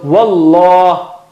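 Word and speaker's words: والله: you say it like the English word something like law. You practice law or lawyer. You don't say liar, or liar will become something else. You don't say liar or la. You say law. So wallah, it is thicker.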